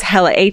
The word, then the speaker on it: Helle: And her name is Hella, Helle is how you spell it, but it's Hella.